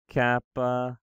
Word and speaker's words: kappa: The kappa is pronounced like a K, like the K sound, K.